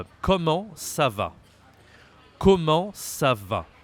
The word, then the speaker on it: comment: So this is not very easy to say comment again because you see there is a T. We don't say the T.